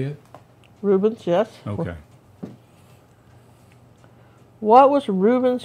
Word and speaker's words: Rubens: Rubens, yes.